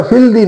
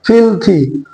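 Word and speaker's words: filthy: Number 5, ফিলথি, উচ্চারণটা ফিলদি নয়, ফিলথি, নোংরা, কদর্যময়।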